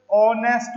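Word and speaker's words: honest: की ही इसे दश ऑनेस्ट मैन आपको आवाज़ किसकी आएगी ओ की आवाज़ आएगी ऑनेस्ट नहीं बोलते इसको क्या बोलते हैं ऑन साइलेंट रखा गया ह कभी भी प्रोनाउंस नहीं होता ह इस साइलेंट आप ह को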